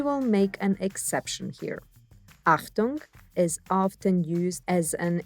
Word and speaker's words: Achtung: Achtung! Ach-toong. The CH is pronounced like ch in English.